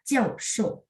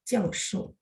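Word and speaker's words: 教授: Jadi misalnya profesor, kita akan bacanya jiao shou. Dengan huruf Mandarin yang sama ya, jiao shou. Itu adalah profesor. Jiao shou. 4-4. Profesor. Jiao shou.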